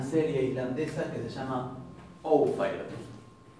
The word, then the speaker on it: Ófær: La vez pasada hablábamos con Brenda de una serie islandesa que se llama Ófær. No se pronuncia Ófær, sino se pronuncia Ófær.